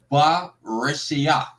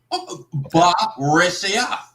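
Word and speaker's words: בְּרֵאשִׁית: Just like the word for in the beginning, it's ba reshia. Okay, that's how you say it. No problem. Ba reshia.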